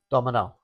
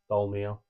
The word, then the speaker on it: Dolmio: we are owned by Mars, which also owns Dolmio. Who? Dolmio, you know, the sauce. No. The barbecue. The not barbecue. I can honestly say, this might be Pasta sauce, Dolmio. Domino? Dolmio. Dolmio?